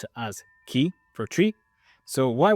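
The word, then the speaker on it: 木: Then you'll see that when we use this character on its own, we just pronounce it as ki for tree.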